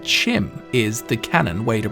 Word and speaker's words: CHIM: Bethesda and he said Chim is the cannon way to pronounce Chim with a ch like cheese.